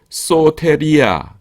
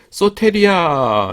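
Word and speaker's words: σωτηρία: 다음 은 소테리아 입니다 . 소테리아 는 구원 입니다 . 구세 의 경우 , 당신 이 PPL 이라 고 부르는 것 이 맞나 요 ? 제 가 광고 후원 을 받는 건 아니지만 , 자연 스럽게 롯데리아 가 떠올랐어 요 . 소테리아 , 로테리아 , 발음 이 비슷하죠 ?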